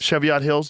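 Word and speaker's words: Cheviot Hills: Cheviat Hills.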